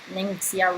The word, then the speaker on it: Ningxia: It's I think it's a funny name to pronounce. I say Ningxia Red just because I'm French, I guess.